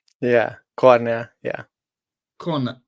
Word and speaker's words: Kornél: I'm guessing it's just Corell yeah Corner yeah corner like Corner yeah okay like cor cor like uh you it's like Cornell basically but uh we in